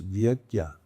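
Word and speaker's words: yajna: You see Y A J N A and normally that would have a squiggle over the N and you pronounce it like this vagya.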